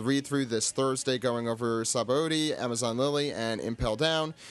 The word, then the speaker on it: Sabaody: this Thursday going over Sabaody, Amazon Lily, and Impel Down. You could also pronounce it Shabandi or Sabandi. There's no correct way to say it, so I'm going to just say it the incorrect way.